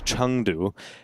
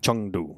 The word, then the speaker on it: Chengdu: Obviously, in the last time they played each other was at the Intel Extreme Masters Chengdu. That was earlier this year. Chengdu? Chengdu, yes.